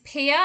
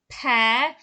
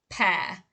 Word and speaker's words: pear: try and pronounce this pier and that's logical because sometimes you know the ear is pronounced ear but this is actually pronounced pear it is a homophone with the word pair p-a-i-r okay so if that